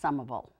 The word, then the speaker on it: Somerville: other City other than Somerville and yes it's pronounced sumable and I didn't want to have to go